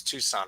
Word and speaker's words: Tucson: Tucson Arizona people who don't know how to pronounce Tucson right it's supposed to be Tucson but uh